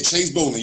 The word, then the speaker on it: Chase Bolling: I'm Chase Bolling. Yes, I'm pronouncing it right. Yeah, Chase Bolling, you got it exactly right.